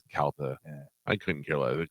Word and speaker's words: Calta: dad's the one that when people say CTA and he goes kalta I couldn't care it CTA cooligans call me whatever